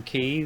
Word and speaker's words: quay: I was going to say Silver K, but I think they mean key, which is spelt Quay.